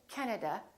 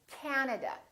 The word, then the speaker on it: Canada: and also three A's this time the first syllable is stressed this time this act is really long so don't say Canada say Canada Canada so you need to